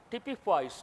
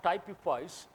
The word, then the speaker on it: typifies: The symbol of the Indian rupee typifies, not typifies. You remember the expression typical. Typical means average, example. So same pronunciation, typifies.